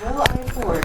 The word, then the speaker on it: Williford: Will I Ford, like a good Texan.